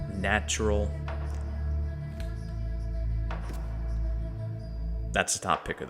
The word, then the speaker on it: nttrl: So this is the album Ask Nature and the artist NT RL pronounced natural.